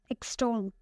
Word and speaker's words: extol: The next word is extol. Extol. It has 2 syllables and the stress is on the second one.